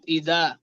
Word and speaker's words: إذا: ومن شر غاسق إذا إذا وقب وقب ومن ومن شر غاسق غاسق إذا إذا وقب وقب জাল নরম হবে নুসরাত, ইদা।